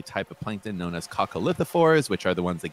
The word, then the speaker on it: coccolithophores: of plankton known as coccolithophores which are the ones that give you gym chalk or the white cliffs of dover um or they might be pronounced coco lithophorus depending on where you are but um cocolithophores are